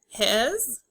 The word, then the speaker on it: his: His. The S makes the Z sound.